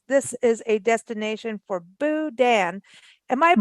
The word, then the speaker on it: Boudin: pull over because this is a destination for Boudin am I pronouncing all of this right Jeff welcome back how are you I'm doing good and yes you are pronouncing it right Boudin and did I get your last name right